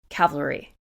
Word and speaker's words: cavalry: root with a word I will struggle to pronounce throughout this entire episode Cavalry I did it right I'm sure all of